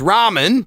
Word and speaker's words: ramen: rhymes with these thing the answer was Ramen ra m r a m n yes which is Japanese noodle dish which also Rhymes worth farming the thing the farmer